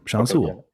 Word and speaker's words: Sean Sewell: hebrew hammer salkin and joining me today is sean sewell did i pronounce that correctly yes sir sean sewell i thought i did i'm usually pretty good